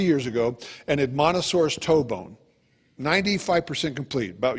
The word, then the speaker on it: Edmontosaurus: Oh, that one, Edmontosaurus. Yeah, I always just see because I always just thought pronounced it Edmontonsaurus. But it's not though. There's no N at the end of it.